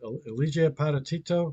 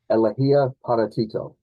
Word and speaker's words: Elegía para Tito: Eligia Patatito. Not sure you say it. Elegía para Tito Aha.